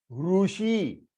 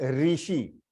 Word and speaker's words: ऋषि: Long, ऋषि, ऋषि, ऋषि, तो रू भी बड़ा बन जाता है और शी भी बड़ा बनता है, ऋषि। इट इज नॉट ऋषि। कृपया करके उसे प्रोनाउंस करते वक्त री मत यूज कीजिएगा, प्लीज डोंट यूज इट।